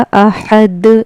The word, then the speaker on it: अहद: तो यह पढ़ा जाएगा अहद। यहां पर कलकला होगा। कलकला होगा यानी इसको पढ़ते वक्त इसकी आवाज लौटेगी यानी वापस आएगी। इसके मखरज टक्कर खाकर अलग हो जाएंगे।